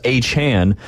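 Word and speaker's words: Achane: but uh Devon Anan which I've officially learned that's how they pronounce him on the TV so I'm going to pronounce aan on the air as well but he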